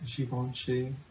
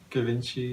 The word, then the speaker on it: Givenchy: Givenchy. Givenchy. Givenchy? Givenchy. Givenchy. Ho ho ho ho. I got some of that Givenchy.